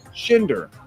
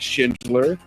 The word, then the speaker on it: Schinder: It's simple. It's two syllables. Schinder. But I get Schindler, Schneider, Shiaozenhauser, Schmecklebomb, Heckle, all kinds of different things.